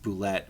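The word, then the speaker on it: Bulette: no we're not we're gonna print we're gonna pronounce it boulette and anyways even though it's ballette it looks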